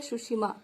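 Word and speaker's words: Tsushima: इसका नाम होता है सुशिमा, ठीक है। ये जो आपके पास है, देखिए टी से इसकी स्पेलिंग स्टार्ट होगी, लेकिन हम इसको पढ़ते हैं सुशिमा, ठीक है।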